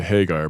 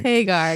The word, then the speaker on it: Hagar: girl woman had are um I always say Hagar by the way Hagar yeah I'm influenced by the appropriate uh pronunciation because of Van Halen which all of